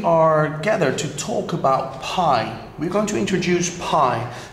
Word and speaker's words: pi: And you pronounce it as P-I, pie, or perhaps you want to put an E there, I'm not sure, I'm Dutch, yeah? But pie, anyway, pie, apple pie.